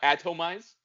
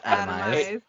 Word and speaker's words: Atomized: It's not Atomize? No, it's atomized.